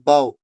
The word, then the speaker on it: bow: है वो डिफरेंट है, दोनों जगह हम इसको बो नहीं पढ़ते हैं, ठीक है। एक जगह जो जब हम इसको एज ए झुकना, बेंड होने के मीनिंग में इस्तेमाल करेंगे तो उस टाइम इसका मतलब निकलता है बाव, BOW बाव, ठीक है।